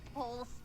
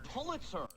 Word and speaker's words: Pulitzer: And can't even pronounce the word Polster. It's Pulitzer.